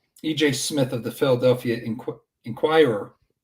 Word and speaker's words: Inquirer: Smith of the Philadelphia Inquirer. I think I'm saying it right. Yes. Inquirer. Yes, you got it.